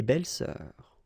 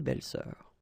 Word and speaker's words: belles-sœurs: Same rule here, S and S, but you don't pronounce it. Une belle-sœur, des belles-sœurs, okay? Une belle-sœur, des belles-sœurs.